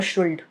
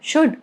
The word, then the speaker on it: should: It's not would or could or should. It's could, should, would, okay?